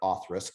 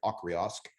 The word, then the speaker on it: Auchroisk: But I really like Autrusk, even though I called it for the first 5 years Auchriosc.